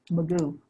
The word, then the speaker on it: Mugu: So in Point Mugu State Park, say you're, am I pronouncing that right? Mugu? Magoo.